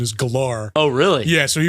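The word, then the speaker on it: Gellar: name correctly cuz he always said Sarah Michelle gar yeah and it always pissed me off well no that's actually from an interview that she did where she was like actually the pron the correct pronunciation is galar oh really yeah so he was always like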